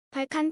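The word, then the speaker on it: Balkan 176: 가지의 고알콜 제품이 있습니다 볼컨 176 발칸 혹은 발칸 176이라고 읽으면 됩니다 88도 불가리아산 보드카로 88도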